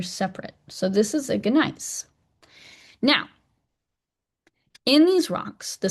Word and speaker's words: gneiss: which is basically that this gneiss, which I should say nice, you're not supposed to pronounce the G, but I can't do it.